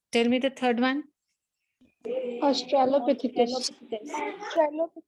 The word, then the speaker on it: Australopithecus: Because if you pronounce it correct, your spelling would be correct. Australopithecus. Tell me the third one. Australopithecus.